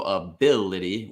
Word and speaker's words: ability: even though it's the very first vowel, it's a schwa. Yeah. Schwas are never the stressed syllable in a word. So ability, with bill being the